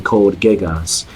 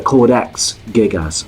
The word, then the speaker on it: Codex Gigas: the grand grimoire or the Code Geass or the codex gigas excuse me mispronounced I just start correcting